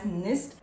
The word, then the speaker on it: Gnist: We have the brand Nist. It is Gnist, but pronounced as Nist.